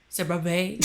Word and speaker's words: CeraVe: And that's the CeraVe. Oh, wow. Is that how you say it? CeraVe? Yeah. CeraVe healing ointment.